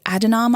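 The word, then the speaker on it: Adhanom: that on February 8th Tedros a de nom I believe is how you pronounce his name he is the director-general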